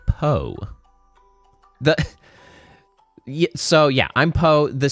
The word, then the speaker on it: P0.e: It's pronounced Poe.